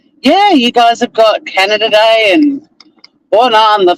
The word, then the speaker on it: Canada: I used to say Canadia as a joke on stage and um we had a really stupid polity a prime minister who actually pronounced Canada Canadia and ruined my one-liner